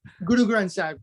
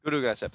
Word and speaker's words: Guru Granth Sahib: Guru Granth Sahib is the scripture. Guru Granth Sahib.